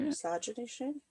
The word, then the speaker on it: miscegenation: Miscegenation? Anti-miscegenation? Like misogynist, but... Well, it's miscegenation. Miscegenation.